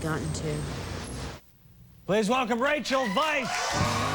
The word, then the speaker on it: Weisz: right Vice yeah Vice even though it looks like we or wise it looks like we Wheezy I get all sorts of pronunciations but but it's Vice like the opposite of virtue you know yeah or